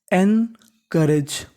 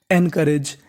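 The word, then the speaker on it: encourage: ओ यू आर हमें यहां पे ओ यू का उच्चारण नहीं करना ओ यू का उच्चारण हमारा साइलेंट रहता है यानी अगर आपको कहीं पर बीच में ओ यू लिखा मिले तो ओ यू का उच्चारण नहीं करना होता ओ यू हमारा साइलेंट रहता है तो मीनिंग बनी एन करेज एन करेज एंकरेज एंकरेज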